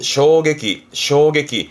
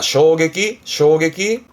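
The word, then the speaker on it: 衝撃: 항상 말하지만 이해만 하고 대표 단어로 요게 충격입니다. 발음은 쇼게기. 뭐 충격적이기도 하고 쇼크기도 하고요. 그래서 이 한자는 충격의 충이구나. 쇼게기.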